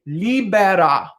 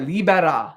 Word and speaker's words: libera: that's a flip tar libera libera libara me say me and you can do a little fun with that r if you can roll your rs you could put a little on there is obviously death and